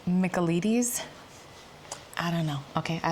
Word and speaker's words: Michaelides: Okay, so ChatGPT says it's Michaelides.